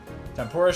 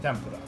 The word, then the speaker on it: tempura: know people know tempura I don't think most people have heard it pronounced tempura before Mo at least most people in the US don't know what I'm talking about when I say tempora I have to say tempura for for people to know what I'm talking about that's the distinction I was making most people know what that food is I was just pronouncing it a way that I think most people aren't used to I'm half weeb